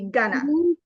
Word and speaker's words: gonna: back of your throat going to is pronounced quickly and it's going to be gonna go gonna go so I'm